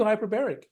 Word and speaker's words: hyperbaric: It's not hyperbolic, it's hyperbaric. Hyperbaric Hyperbaric. oxygen therapy. Yeah. It's for If you that. don't want Right. cancer and if you want to get cured of cancer, do hyperbaric.